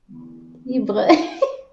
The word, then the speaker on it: libre: speaking and Spain background, I rolled my R's. So, Crystal, what's the name of the first song? Tell me if I'm pronouncing it right, Elsa. Is it Libre? Libre, Libre. libre. Libre. See, I got you to do it because she already corrected me. Libre. It's in the throat, like a kind of Libre.